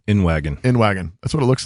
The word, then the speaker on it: Inwagen: Inwagen.